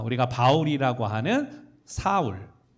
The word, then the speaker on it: 사울: 아 우리가 바울이라고 하는 사울 예 사울 사울이라는 이름은 사실은 이게 이제 이름이 바뀌었다고 생각을 하지만 원래 같은 이름이에요 히브리식 발음이 사울이이 헬라식 발음이 파울루스 그래서 바울이라고 이야기합니다 아 같은 말인데 우리가